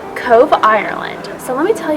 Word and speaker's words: Cobh: crazy thank you okay Travelers welcome to Cove Cove Ireland so let me tell you guys a